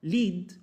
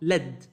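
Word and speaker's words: lead: عندنا كلمه زي دي ممكن ننطقها ليد وتكون بمعنى قود وممكن ننطقها لد وتكون بمعنى معدن الرصاص وبيكون برض عندنا كلمه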